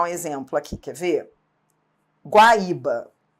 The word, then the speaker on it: Guaíba: Porque senão, se a gente não mantivesse o acento de Guaíba e Guaíra, qual seria o risco? No futuro, as pessoas falarem Guaiba, Guaira.